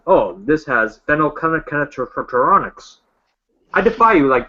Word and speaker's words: phenylketonuria: I just looked how to pronounce that on YouTube, and it's phenylketonuria.